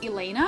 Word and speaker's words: Elena: My real name is Elena. It's spelled E-L-E-N-A.